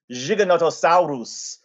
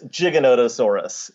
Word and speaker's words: Giganotosaurus: For example, I don't call it Giganotosaurus, which Rudolfo Coria would say. It's an Argentine pronunciation. It's Giganotosaurus. So that would be the way that most American paleontologists would say it, rather than Giganotosaurus.